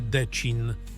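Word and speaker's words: Děčín: Jeden z najbardziej znanych takich kamieni znajduje się w Czechach, w mieście Decin. Akcent na i.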